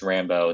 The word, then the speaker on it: Rambo: first blood david morrill intended the name of the protagonist rambo to rhyme with rainbow and cited season in